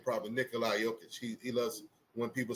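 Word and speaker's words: Nikola Jokić: Because he is highly, I should say his name probably, Nikola Jokic.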